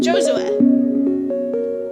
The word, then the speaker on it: Josue: No, it's like less like an A. Josua. Josue.